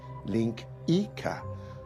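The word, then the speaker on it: linguiça: Portuguese national dish it's spelled langua but it's pronounced Linka which is probably why they call sausages lyx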